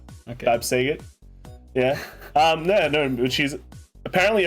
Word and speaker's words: Bavsargra: Bavsargra. Okay. Bavsargra. Yeah. No, but she's apparently everyone's new favorite girl. Really? Or is it the I don't know. Actually, is it Mirai that's the popular one, or Bavsargra?